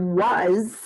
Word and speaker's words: was: listen to the word was i see an a and was but i hear an o sound z and i actually even hear a z sound at the end but notice that's an